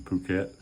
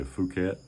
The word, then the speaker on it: Phuket: Just learned after a year, even being in Thailand, being in Phuket, that I was saying it wrong the whole time. I was saying, yeah, I'd like to go back to Phuket. And somebody asked me, said, why do you call it that? It's Phuket.